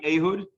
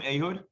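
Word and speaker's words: Ehud: here is an interesting fact about this guy ahood well first of all anyone know her name ahood famous israeli statesman general prime minister ayodh barak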